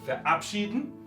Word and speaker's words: verabschieden: O, como en este caso, verabschieden, no importa cuántos prefijos tengamos, está el acento en el prefijo separable.